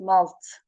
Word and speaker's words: malt: They malt their barley for beer after the same principle as we do, and then call it malt. The A pronounced as in the English hat.